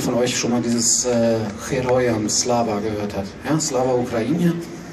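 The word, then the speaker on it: Героям слава: Ich weiß nicht, ob jemand von euch schon mal dieses Heroyam Slava gehört hat. Ja? Slava Ukraine und dann Heroyam Slava. Das heißt, das G wird wie ein H ausgesprochen.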